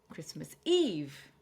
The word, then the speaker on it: Christmas Eve: Christmas Eve. Again, it's three syllables, but we're stressing on the eve.